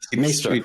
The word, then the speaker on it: Maester: Fabian Bader and Thomas Monheim, Germany, is Maester, if I'm pronouncing that. Yeah, correctly? Maester. Maester, right. Play of Game of Thrones, the Maesters in Game of Thrones.